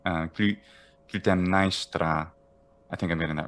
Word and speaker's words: Clytemnestra: Is it his wife Clytemnestra or Clytemnestra, or how would you say that? I always heard Clytemnestra in English, Clytemnestra. Clytemnestra, I think that's the spelling. Clytemnestra.